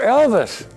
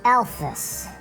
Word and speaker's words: Elfus: Well, You're Elvis. I'm Elfus. Elfus. Son, you're putting the emphasis on the wrong syllable again.